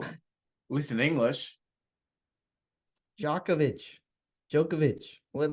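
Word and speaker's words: Djokovic: ready no no no keep going keep going jokovic um DJ o c k v i so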